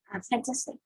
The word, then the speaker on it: fantastic: discussed above, which is Fantastic. fantastic. Fantastic. Fantastic. Fantastic. Okay. We don't say fantastic, we say fantastic because the stress syllable is on tas. Fantastic is the second syllable.